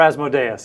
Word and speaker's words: Asmodeus: Give me that one, and Asmodeus. Yes. Or Asmodeus, as various people pronounce it.